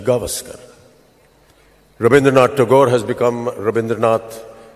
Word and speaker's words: Gavaskar: Foreign English-tongued cricket commentators say Gavaskar for Sunil, when this is actually Gavaskar.